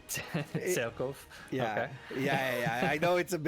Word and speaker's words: Cerkof: Yeah, it's Cereb, but it's actually it's weird because his original name is, well, if you read it in Hungarian, it's Cerkof. So Cerkof.